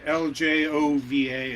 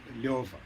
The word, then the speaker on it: Ljova: Yeah, so the J is like a Y, and so it's the Russian diminutive of my formal name, which is, and it's pronounced the LJOVA is pronounced LJOVA.